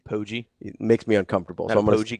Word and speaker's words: Poggi: I don't like the soft G sound with Poggi. Poggi.